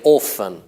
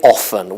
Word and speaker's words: often: fun but say often I hear lots of Italians say orphan no that is not used say often with Oh hmm then words like